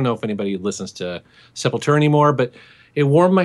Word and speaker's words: Sepultura: And I have to admit that when I tweeted that out, I was like, I don't know if anybody listens to Sepultura anymore, but it warmed my heart to see that Ben actually recognized it.